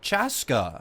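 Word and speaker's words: Chasca: Chaska.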